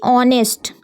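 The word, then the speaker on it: honest: ऑनेस्ट हम इसलिए पढ़ेंगे क्योंकि एच यहां पर साइलेंट हो जाएगा। ठीक है? इसलिए हम सिर्फ ओ को पढ़ेंगे। लिख लेकिन लिखा तो होनेस्ट जाएगा। लेकिन हम हमें क्या बोलना है? ऑनेस्ट।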